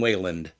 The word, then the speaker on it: Wayland: on both X11 and Wayland anyone going to correct my pronunciation on the Wayland it's way land enabling Hardware acceleration allows